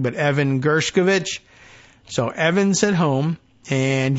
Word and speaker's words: Gershkovich: taken the time to be doubly sure I'm pronouncing correctly but Evan gershkovich so Evans at home and yes the some